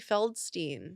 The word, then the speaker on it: Feldstein: her beanie fiddlin fidd fiddlin whates the card I say it wrong beanie fiddlin insane it's beanie feldstein oh my God Amy